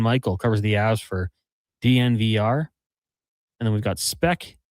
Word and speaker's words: DNVR: Is it Is it Denver Sports or DNVR? Uh How do you say it? You say it You You say all all four letters.